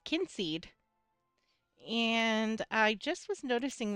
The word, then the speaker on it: Kynseed: Um It's called Kinseed. And I just was noticing that it tells you how to pronounce it.